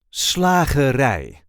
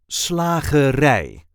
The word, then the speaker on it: slagerij: Slagerij. The emphasis is now on the last syllable. Slagerij.